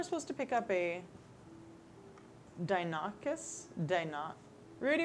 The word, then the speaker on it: Deinonychus: You are supposed to pick up a Dinocus? Rudy, how do you pronounce this? I'm not looking at it. I don't know. Spell it. Deinonychus.